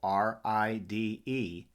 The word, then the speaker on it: ride: we have two valves the first is long which is going to be the i the second is silent meaning we see it but we don't hear it ride let's review our